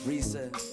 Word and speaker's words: Brisa: And last but not least, we have my stage ace, my sister, the lovely Brisa. Just know when you say her name, you have to roll the R.